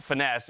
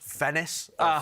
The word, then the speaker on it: Finesse: a matter of fact, it's always been pronounced Finesse if you're to talk to the man himself, just making it official this time around. I was told it was pronounced Fennis.